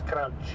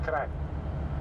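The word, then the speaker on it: Kranj: can see the name k r a n j crunch you will pronounce crunch yeah but we pronounce crank because n and J this is one letter actually for us for you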